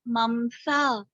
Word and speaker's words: mamsa: The pronunciation is mamsa. Muscles.